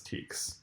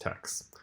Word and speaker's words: TEKS: teks and those process teks I realize now that I've said both text and teks I prefer the text pronunciation just a fun fact about me I think it's pronounced text so this is what